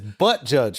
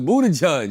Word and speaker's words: Buttigieg: It's Butt Judge, right? No, it's Buddha Judge.